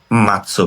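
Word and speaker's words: 待つ: তো আমি হচ্ছে এখানে অপেক্ষা করব, মাতসু বা, এটার মিনিং হচ্ছে অপেক্ষা করা।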